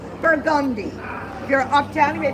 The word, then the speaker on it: Burgundy: It is not Burgundy, it is pronounced Burgundy.